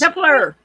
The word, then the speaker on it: Keppeler: Keppeler. Keppeler, yes. It's Yes. Keppeler, pronounced Keppeler.